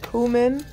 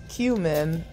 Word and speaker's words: cumin: using this seasoning so according to YouTube you can say cumin cumin or coming how do you say it some cayenne pepper some